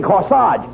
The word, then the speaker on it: corsage: no no you mean corsage age is pronounced arch as in corsage and garage where did you get